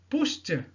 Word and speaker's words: pushed: Pushed, t, et non pas pushed, et non pas pushed. Donc le ED ici se prononce comme t.